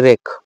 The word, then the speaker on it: wreak: আর একটা হচ্ছে 4 নম্বর যেটা, সেটা হচ্ছে কি WREAK, উচ্চারণ কি দুটোই রেক।